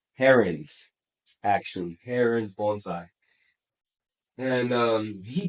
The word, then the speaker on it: Herons: I believe I pronounced that right. Herons, actually.